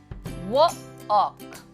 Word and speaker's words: walk: जैसे walk, walk, walk. यहाँ पे L आपका साइलेंट हो गया.